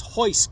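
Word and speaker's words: Royce: bit dad noticed also they don't pronounce the letter R like we do to them it's an h and that's why Olaf says hoist Gracie jiujitsu so if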